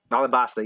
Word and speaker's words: Alabasta: Alabasta, yeah. It's spelled Alubana in the main, but it's Alabasta.